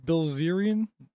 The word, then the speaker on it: Bilzerian: it seems to me Dan Bilzerian, is that how you say his name?